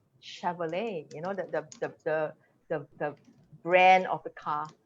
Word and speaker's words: Chevrolet: Because, like, uh, I'm trying to think, chair, and then Chevrolet. This is the soft, it comes from French, so it's softer, chair.